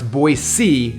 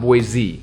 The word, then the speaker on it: Boise: sense by the way it's now it's boise not boyz which is funny because i would say boise i get in trouble all the time you're even from here you say it wrong boise is so cool